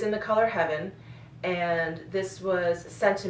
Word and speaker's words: Hevyn: because I thought, oh, I think it's Heaven, but it's spelled Hevyn, and he's passed away.